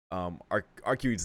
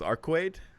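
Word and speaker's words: Arcueid: I'm aware I should try to pronounce Arcuede's name correctly, which is Arcuede. Arcuede. I think I'll say it like that since that's apparently the closest way to like me to say it in English, I suppose.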